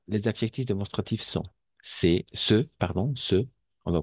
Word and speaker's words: ces: Et finalement, ici, on va prononcer C. D'accord? E ouvert et abierta.